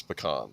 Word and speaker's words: pecan: When you live in uh the south, you have to learn how to say pecan. It's pecan. Okay. You have to pronounce it right or they'll come after you.